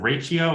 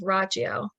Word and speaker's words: Rachio: and the is it ratio is that how you say it yeah I remember it's like Ralph Macchio's I think it's rachio how I could remember it so rachio but there's um a